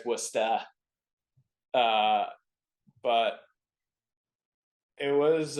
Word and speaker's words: Worcester: Hockey yeah it was so I pronounce it Worcester if you're out there it's westa uh uh but it